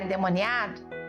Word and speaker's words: endemoninhado: Agora a minha pergunta para você nessa noite é a seguinte: um crente pode ficar endemoniado? A gente fala endemoniado, mas se escreve endemoninhado, tá?